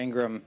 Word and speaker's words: Ingraham: And this Thursday, I'll be on the Ingram angle with Laura Ingram.